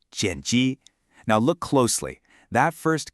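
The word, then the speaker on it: 剪辑: When it comes to editing a film or a video, the word is jeni, pronounced jeni.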